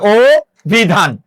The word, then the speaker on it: অভিধান: ও হবে যেমন অভিধান অধ্বনির পরে রস্বীকার আছে তাহলে অ এর জায়গায় কি হয়ে যাবে ও হয়ে যাবে ও বিধান আর যে বর্ণে স্টপ হয় সে বর্ণে কি করতে হয়?